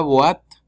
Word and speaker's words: boîte: La boîte, O con I forma UA. ¿Sí? La O con I se pronuncia UA. Y la E al final es muda.